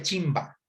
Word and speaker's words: chimpa: aquí voy a ponerle se podría decir chimpa pero se pronuncia chimba chimba la trenza la chimba